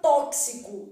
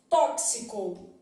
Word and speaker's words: tóxico: para caramba aqui também tóxico então na palavra tóxico Eu tenho um X com valor de KS isso marca a ocorrência